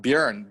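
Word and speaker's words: Björn: so it's like yeah bjorn yes i have a german friend who lives in austin and he's bjorn he's also a bootstrap entrepreneur but um bjern buren is the right swedish pronunciation right yeah what does it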